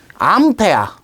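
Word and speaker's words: 암페어: 그래서 얘를 우리는 암페아라고 읽습니다. 암페아. 암페아.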